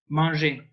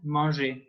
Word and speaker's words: manger: is pronounced in French manger. So here I want you to picture a man eating, and he's eating and putting crumbs everywhere. And man is the beginning of the pronunciation of manger. Man, manger.